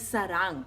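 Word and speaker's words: 사랑: And then the word for love is sarang, okay? So sarang.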